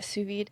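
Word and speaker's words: sous vide: have this but anyways have you ever su vayed anything at home? Is that how you say it? I can't remember. Yeah, suvid.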